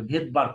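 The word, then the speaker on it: Svedberg: এস হচ্ছে ওই যে এসটা এখানে সাইলেন্ট থাকবে, ভেদবাক পড়া হয় সাধারণত, ভেদবাক ইউনিট।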